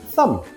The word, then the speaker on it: thumb: Some examples are lamb, climb, thumb.